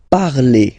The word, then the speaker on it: parlez: Let's see now for vous, vous parlez, okay? Remember, a z, when you combine them together, you get the sound e.